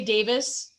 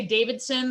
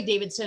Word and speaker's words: Davidson: i go someplace and say davidson they're like can you spell that is that an en i'm like oh my god it's and then i really confuse them if i go just like harley davidson and they're like what